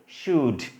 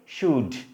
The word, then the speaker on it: should: অনেকে কিন্তু আমরা উচ্চারণ করি কিন্তু এটা কি উচ্চারণ করি should, উচ্চারণ কিন্তু সঠিক না। ঠিক আছে, উচ্চারণটি কি হবে শুড। এখানে কিন্তু এই যে এল, এলটা কিন্তু সাইলেন্ট থাকবে, উচ্চারণটা কিন্তু এল এর হবে না, উচ্চারণটি কি হবে শুড, শুড।